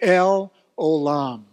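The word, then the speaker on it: El Olam: last word is alum and that's how it's pronounced let's everybody say we worship say it with me l olam L alum the everlasting God that's that phrase in Psalm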